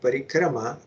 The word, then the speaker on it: parikrama: he is also saying as it should be said parikrama not parikram but foreign cement trip